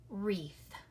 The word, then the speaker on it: wreath: word like right or wreath okay you're right it's the one up at the top isn't it the W is silent and you just hear the are a okay next one point